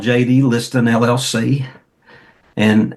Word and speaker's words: Listen: Is spelled L I S T E N. Looks like Listen, pronounced Liston.